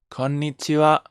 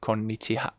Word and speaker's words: konnichiwa: konnichiwa practice with me okay it's not konichiwa it's konnichiwa as i say this lecture can be read ha ha or what okay sometimes you read it ha like ohio you don't read oh or konnichiwa you don't say konnichiha okay so there are